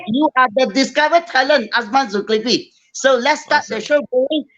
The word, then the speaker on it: Azman Zulkiply: bit about yourself man my name is azaman zultipli uh i'm actually very happy that today you pronounced it uh correctly a lot of people